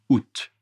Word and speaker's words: août: Le A n'est pas prononcé août directement, mais le T est prononcé.